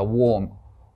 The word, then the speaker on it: war: or に変わります THE WAR War ていう風に発音が変わるんだっていうのを知っていてくださいですねえ AR は普通 R の音だったのに W がくっつくとちっちゃい音に変わる